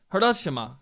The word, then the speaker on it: Hiroshima: and 3rd 2017 Babymetal performs at the Hiroshima Hiroshima that's how you say it green arena with